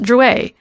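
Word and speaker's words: Drouet: and touching his name it's pronounced jouer our family was french on my father's side she looked at it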